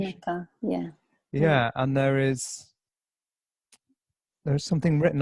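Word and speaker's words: Unci Maka: Is that the correct pronunciation? Unchi Maka, yeah.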